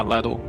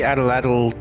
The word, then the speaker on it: atlatl: For the, how do you pronounce it? For the atlatl? Yeah, atlatl.